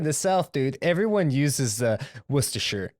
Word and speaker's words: Worcestershire: ] hot sauce maker you have a chance rooster sure what it's Worcestershire his Jay connect correct pronunciation I'm drunk and I